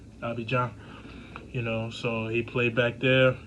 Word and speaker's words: Abidjan: Just in case, a couple of you Ivorians is tuned in and y'all say, oh, you didn't pronounce it right. Abidjan.